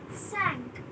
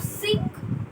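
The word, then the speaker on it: cinq: That is sank. It is not sink. It is sank.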